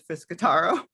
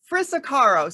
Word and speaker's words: Frisicaro: I have David Deutsch and James Frisicaro. Frisicaro. See, I prepared on saying this, and I did say it wrong. So actually, second time, it was perfect.